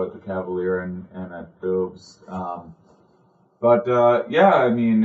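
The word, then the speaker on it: Bubs: And I was going to say boobs. It's B-U-B-S, but they pronounce it boobs.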